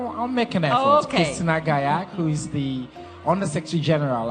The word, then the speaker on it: Gallach: your last name well if you want to pronounce it my way that's what I want to do Catalan way gak gak but it's quite tough